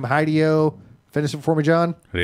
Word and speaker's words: Hideo: I think you mispronounced it. So Hideo Kojima. there you go. Hideo. It's Hideo Kojima.